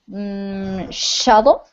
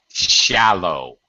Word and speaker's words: shallow: worry is is quite shutle shutle is is the pronunciation uh shallow shallow shallow that's it shallow very good uh